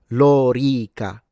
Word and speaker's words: lorica: like for instance um in English you say "lorica segmentata", right? In English. In Latin, it's "lorica". So both the o and the e, that's the Roman armor, right? The o and the e are long.